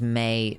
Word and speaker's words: Mai: If her name is May, then it should be spelled M-E-I, and it hurts me so much.